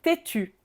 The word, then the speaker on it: têtu: Tétu, même prononciation au féminin et au masculin.